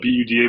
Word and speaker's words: Buda: quickly huh beautiful right that's right you're in Buda Texas which is outside and it's pronounced it's spelled b-u-d-a but it's pronounced Buda right yes you got